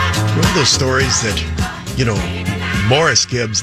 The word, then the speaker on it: Maurice: Why does Maurice Gibb pronounce his name Morris? The suggestion was that he just was adamant that when anybody would call him Maurice, he would always correct him and say it's Morris.